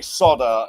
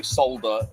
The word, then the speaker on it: solder: didn't solder remain I don't understand why they say soda in America and we say solder with an L well it's spelled with an L in both countries but you say soda here why is that Dave why do you say solder wrong because you make